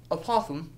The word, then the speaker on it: apothem: it's aoam but if you go like this aoam that's how you pronounce it it's an aoam so an I